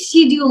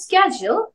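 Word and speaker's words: schedule: এই যে স্কেজু ওয়ার্ডটা আছে অনেকেই কিন্তু এটাকে শিডিউল বলে ম্যাক্সিমাম মানুষ এটাকে কি বলে শিডিউল বাট মনে রাখতে হবে সঠিক উচ্চারণটা হয়তো অথবা কিন্তু শিডিউল কোন কথা নাই আমরা কেউ বলবো না আমরা হয়তো বলবো স্কেজু যদি আমরা আমেরিকান ওয়েতে বলতে চাই আর যদি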